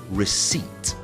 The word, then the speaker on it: receipt: also really tricky so this one receip receipt so it's the P that's silent and that receipt is